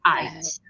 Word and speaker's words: uit: The U and the I together, it's pronounced as I. Yeah, ikom uit.